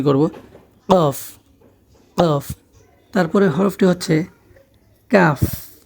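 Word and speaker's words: ق: ফা তারপরের হরফটি হচ্ছে কফ কফ কফ গলার মাঝখানে আমরা উচ্চারণ করব কফ কফ কফ ক বাংলায় আমরা উচ্চারণ ক মতো না করে অল্প একটু ভিতর থেকে আমরা উচ্চারণটি করব কফ কফ তারপরে হরফটি হচ্ছে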